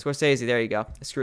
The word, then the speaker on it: Scorsese: Scorsese. Scorsese.